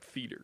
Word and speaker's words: theater: put a note that you got to say theater like theater theater yeah all right uh yeah because if you add an extra syllable it just ruins the whole song now i should i